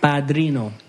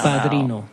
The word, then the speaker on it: padrino: Padrino. P-A-R-I-D-N-O. P? Is that how you spell it? P-A-D-R-I-N-O. Yeah. Padrino. In English, if Americans would say padrino, but padrino.